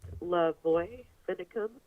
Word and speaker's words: LaVoy Finicum: But yeah, his name is pronounced Lavoy Finicum.